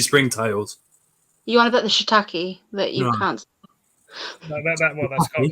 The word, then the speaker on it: shiitake: I say how it's spelled. It says shiitake. Shiitake. Shiitake. If it's Literally sounds like you're saying shit take. there'd be an I and then it'd be IE at the end, wouldn't it?